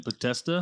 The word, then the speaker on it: Podesta: It's supposedly like John, but how do you pronounce his name? Podesta.